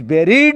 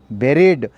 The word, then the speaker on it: buried: A long narrow box of wood in which dead body is buried or cremated. Buried, B-U-R-I-E-D, buried, not buried. So many students has been mispronouncing this word buried. Buried is a wrong pronunciation.